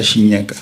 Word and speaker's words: Tjinjeka: Shinyaka.